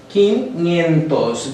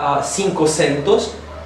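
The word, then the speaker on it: quinhentos: to say or so four hundred quintos this is a particular way to say it's not cinco centos it should be it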